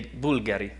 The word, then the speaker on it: Bulgari: In the end, the Bulgari, in Italy we say Bulgari. So the right pronunciation of Bulgari, in this presentation I'm going to say Bulgari, because it will be